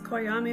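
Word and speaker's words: Coyame: y a m e so c y a m e so it's kyami Mexico yeah and if they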